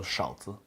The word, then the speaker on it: 勺子: And this character is pronounced Shao, Shao. We put zi at the end as well, so Shao Zi, Shao Zi, Shao Zi.